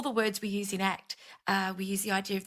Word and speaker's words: ACT: And the overarching aim of acceptance and commitment therapy, which is pronounced ACT as an acronym, is psychological flexibility.